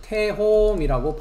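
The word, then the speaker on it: תהום: 그러니까 이것은 태홈이라고 어, 발음을 합니다.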